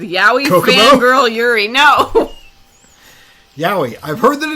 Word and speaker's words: yaoi: Yaoi.